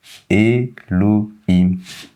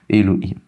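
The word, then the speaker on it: אֱלֹהִים: Elohim, le signe ici, n'y prenez pas garde, ça n'empêche pas de lire. Elohim.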